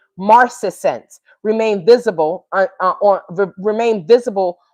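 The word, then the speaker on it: marcescence: So the track title Mar Maris Marcus I said marinence that's not how you pronounce it maretsense marcesense m a r ces ce n ce marcense remained visible on remained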